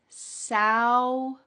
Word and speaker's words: sour: The first one is sour. Sourer. It almost sounds like there's a W in the middle of this word.